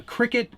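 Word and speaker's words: Cricut: what's a cricket kathmandu a cricket it's it's spelled c-r-i-c-u-t and it's a vinyl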